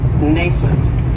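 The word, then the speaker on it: nascent: another great adjective is nent and this word has two syllables and the stress is on that first syllable it has the long a sound nent that second syllable has that schw nent and if something is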